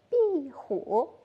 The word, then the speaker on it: 壁虎: 跟李老师一起读一读，壁虎。